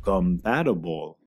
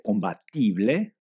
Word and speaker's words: compatible: Otro ejemplo es la palabra compatible. Se escribe igual tanto en inglés que español. Pruebo pronunciarlo como se debe en inglés. ¿Conseguiste? Ahora escucha y repite la pronunciación correcta. Compatable. Si uno le dice combatible a uno de lengua madre, no lo entenderán.